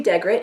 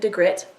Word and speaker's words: Dagrit: wrong but it's okay it's supposed to be dagrit she pronounces it digret whatever I always pronounced